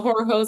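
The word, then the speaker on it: Horror Heaux: There's this whole horror community, and from finding your books and reading your works, I found Horror Hose, and so Horror Hose is spelled Heaux.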